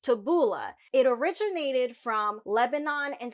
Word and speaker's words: tabbouleh: onions and parsley the boolean Arabic is actually pronounced tabouleh it originated from Lebanon and Syria it's not